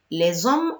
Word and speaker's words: les hommes: but très bien voilà le s il faut le prononcer les hommes ont tous ce même but excellent réponse oui on